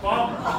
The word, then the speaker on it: Baltimore: Baltimore. Only two syllables.